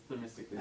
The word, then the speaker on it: Themistocles: It's Themistocles.